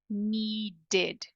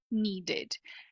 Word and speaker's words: needed: o Ed é pronunciado Lembra que eu falei que o i com tracinho em cima embaixo é o som e Inclusive a gente consegue ver aqui a diferença desse som para esse som então no alfabeto de sons o i com o Pinguinho representa o i de ilha o i comra assim em cima e embaixo representa o e de você então você pode ver aqui que são sons diferentes needed needed já aqui